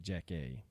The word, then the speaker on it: Jaci: I'm pretty sure I'm pretty sure you pronounce since she's from Nashville, I'm pretty sure you pronounce it Jackie, like Jackie.